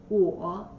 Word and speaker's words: 我: means I in Chinese the pronunciation is whoa so the three parts